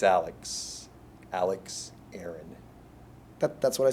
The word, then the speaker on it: Alex Aaron: All right, it's Alex Aaron, A-L-E-X-A-A-R-O-N. That's what I said, Alex. Alex Aaron.